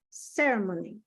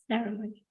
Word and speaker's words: ceremony: yeah ceremony yeah you go high to the in the first syllable and the rest will just like a whisper ceremony so ceremony yes yeah there you